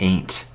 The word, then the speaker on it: aunt: I guess like aunt? Aunt? Aunt. Aunt. To sound like ain't. Do you really call your aunt an ain't?